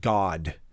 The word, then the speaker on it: Gad: and the children of Gad. And this word gad in the Hebrew uh is more pronounced like God. But again, I'm I'm not going to pronounce it in the Hebrew way just for the sake